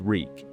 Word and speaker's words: Reek: My name is Reek. It rhymes with weak.